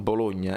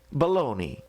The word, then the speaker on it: Bologna: Bologna in italiano si dice Bologna, e quindi Bologna così. In inglese, se voi andate a vedere come si pronuncia? Baloney.